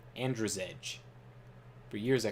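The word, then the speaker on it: Andrzej: if that's true but it's amd r-z-e-j it's like andrew's edge for years i called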